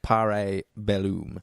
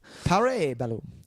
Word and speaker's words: Parabellum: Parabellum. All right. John Wick 3, Tice. It's pronounced Parabellum. Parabellum. That might be actually how it is if it's Latin.